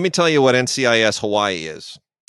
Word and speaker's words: Hawai'i: So it's not NCIS Hawai'i, it's NCIS Hawai'i, which is what you're supposed to say if you're going They're being culturally sensitive.